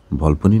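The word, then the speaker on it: Volpone: নাটকটির নাম হচ্ছে ভলপনে। ভলপনে, অনেকে ভলপন, ভলপনি ইত্যাদি ইত্যাদি বলে, সঠিক উচ্চারণটা হবে ভলপনে।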